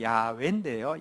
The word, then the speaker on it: 야훼: 저자는 이와라는 분인데, 이와는 우리 성경의 하나님 이름의 정확한 발음은 야훼인데요.